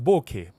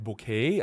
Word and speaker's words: bokeh: So it says, it's properly pronounced with bo from bone. Bo from bone, right? And K from Kenneth.